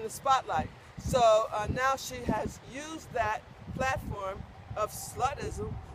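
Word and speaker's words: ห้า: And because the number 5 is actually pronounced ha, so 555 is ha ha ha.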